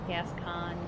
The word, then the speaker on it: Gascoigne: however faintly viola and Gascoigne I know I slaughtered the pronunciation on every I have no idea people have said it's Gascon yes anyways there is